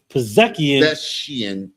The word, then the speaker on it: Pezeshkian: How can you pronounce it? Pezeshkian.